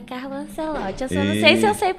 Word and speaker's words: Carlo Ancelotti: O nome dele é Carlo Ancelotti. Eu só não sei se eu sei pronunciar o nome dele certo, corretamente.